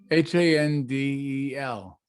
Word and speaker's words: Handel: No, they've changed my name quite a few times, so I put the accent on the E. Oh, I I'm sorry. How did I do that again? There we go. Accent on the E. Handel.